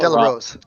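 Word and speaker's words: Del Arroz: What does Vox think of Del Arraz? Is that how to pronounce his name? I've never heard it spoken. Del Arraz. Delarose.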